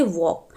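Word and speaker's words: walk: alphabet silent होंगे जैसे वॉक वॉक में आप देख रहे हैं की एल की आवाज़ नहीं ए रही है तो यहां पे वॉक में एल साइलेंट है स्ट्रेट स्ट्रेट में आप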